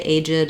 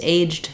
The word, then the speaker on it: aged: You will have some opportunity potentially to say aged as well, but primarily you can use aged, and that's the main way we pronounce this word.